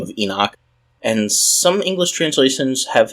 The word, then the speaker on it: Enoch: by the name of Enoch and some English translations have his name as hanok which is kind of amusing because hanok is actually the way that you would pronounce Enoch's name in Hebrew so I'm not sure